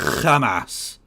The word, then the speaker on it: Hamas: You're supposed to pronounce it Hamas.